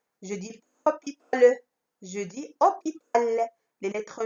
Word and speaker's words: hôpital: Par exemple, moi j'ai écrit hôpital. Hôpital, donc le mot hôpital, dans le mot hôpital, il y a des lettres muettes.